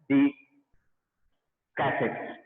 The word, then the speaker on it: Descartes: तो हमारे एक French mathematician थे, René Descartes. Because in French R को silent बोलते हैं. So René Descartes और maybe if pronunciation